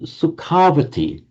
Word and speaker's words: Sukhavati: So Sukhavati, and because of this tendency in Vedic to lengthen an a before an ending beginning in a v or a m, it became Sukhavati.